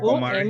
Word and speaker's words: Omri: The Omri or Omri. Papa, I don't know how to pronounce it. Like Omari. O-M-R-I. In Africa, it's Omari. Omari. Because there are consonants and the vowel is not there.